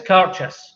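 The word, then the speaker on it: Cairdeas: It's Carchus, and it's Gaelic for friendship. That's the correct way of pronouncing it. Almost think of when people rob a bank and the police chase them. It's a car chase. Carchus. Or it's a gorgeous carchus.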